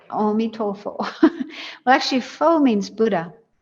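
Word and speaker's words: 阿彌陀佛: You're saying Amitofo. That's how they say it, Amitofo.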